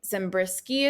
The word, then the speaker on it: Zembrisky: Amy Zembrisky is how you say her name.